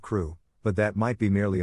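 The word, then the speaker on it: Crewe: difference in the name madam pascal pronounced it as if it were karoo instead of crew but that might be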